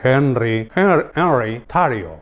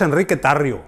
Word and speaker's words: Enrique Tarrio: Eso sí, le dicen Henry Tarrio, y probablemente pronuncian Henry Tarrio, pero su nombre es Enrique Tarrio y es de origen cubano.